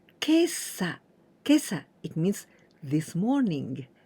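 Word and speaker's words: 今朝: This is exceptional way to pronounce. Kesa, kesa, it means this morning.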